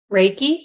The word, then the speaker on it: Reiki: Reiki, yep. I got it? Yes, you did. Okay, it's going good. She helps people through Reiki, somatic healing, pure bioenergy, breathwork, sound healing, and end of life care.